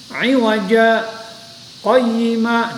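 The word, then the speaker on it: عوجا قيما: Jadi cara membacanya iwaja qayyima. Diulangi lagi dari qayyima. Ini ayat 1 dari Alhamdulillahilladzi anzala ala 'abdihil kitaba wa lam yaj'al lahu iwaja qayyima. Jadi tidak bernafas tetapi berhenti sebentar.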